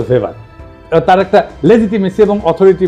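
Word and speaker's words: Weber: না আরেকজন দার্শনিক আছে ম্যাক্স ভেভার এটা ওয়েভার বলে অনেকে এ উচ্চারণ আসলে ভেভার তার একটা লেজিটিমেসি এবং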